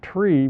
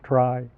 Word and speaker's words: trie: the word retrieval but we don't pronounce it tree because then we couldn't distinguish it from binary search trees so we pronounce it try and this is a